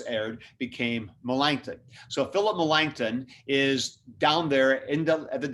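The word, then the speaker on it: Melanchthon: number two is philip melangton now i've used millen's name a lot to spell that as m e l a n c h t h o n melangton and malangthen was is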